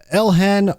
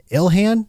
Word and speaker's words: Ilhan: Let's start with the money uh the money mystery over with Representative Elhan Omar. Is that how you say her name? Ilhan.